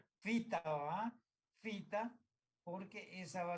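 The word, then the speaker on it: phyta: Ustedes ya no van a equivocarse como algunos que van a decir pita. No, pita no. Fita, porque PH se pronuncia como F.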